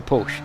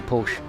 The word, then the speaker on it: Porsche: they say porsche so if you ring up the service center they answer it as porsche so that's probably the right way to say it i'm off to watch